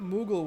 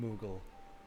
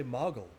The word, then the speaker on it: Moogle: two o's or were we just always pronouncing it moogle and it always has been modeled because i know what mog i would say mog is mog right there but i wouldn't i would never say mogul because it sounds like